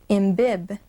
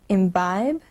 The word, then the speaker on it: imbibe: Can we pronounce then imbib instead of imbibe? Certainly no. The silent E makes the vowel I say its long sound, or we can also say its own name.